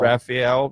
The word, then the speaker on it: Rafael: Rafael Nadal. You know, say it like the turtle name, Rafael. Yeah, Rafael.